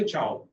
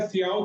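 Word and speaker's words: ciao: तो प्रचलन की भाषा में या पॉपुलैरिटी में, इन द वे of popularity that they से चाओ, ओके। सो ऐसा जिसके अंदर कोई there is no pronunciation rule, but even if यू are speaking it एज सियाओ तो that is also okay, you कैन से, and that person in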